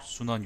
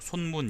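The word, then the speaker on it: 孫文: 예를 들면 이제 천두슈 아니면 순원 이런 식으로 그걸 하기도 하는데 읽기도 하는데 근데 저는 이제 그게 싫기 때문에 항상 진독수 아니면은 뭐 손문 이런 식으로 읽거든요.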